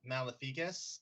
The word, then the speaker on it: Maleficus: Google it's pronounced Mala malificus in kind of Mal an Italian sort of style Latin accent it's Latin for evil